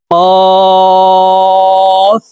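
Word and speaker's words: ق: উচ্চারণ করব ফা ফা কফ জিহ্বার গোড়া তার বরাবর উপরের তালের সঙ্গে লাগাইয়া কফ হরফ উচ্চারণ করব তিন আলিফ টেনে উচ্চারণ করব কফ কাফ কাফ লাম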